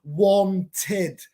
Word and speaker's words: wanted: Wanted. T-E-D. So I pronounce the E-D.